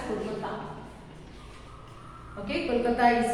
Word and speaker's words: Kolkata: Okay, you have to pronounce it as Kolkata.